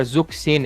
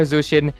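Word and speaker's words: Zhuxin: But overall, you don't need to pronounce her correctly, but don't call her Zuxin. It's not K, guys. Come on, it's not Zuxin. There's no Zuxin, guys. It's call her Zushin, and if you want to be oral farming,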